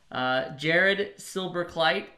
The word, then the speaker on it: Jared Silberkleit: you know the benefactor of the trust fund Jared silver kite and wow wow you actually pronounced it correctly that never that almost never